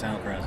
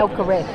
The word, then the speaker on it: Alcaraz: Alcaraz. Alcaraz. You don't say the Z. Oh, don't you? No, he had a press conference about it.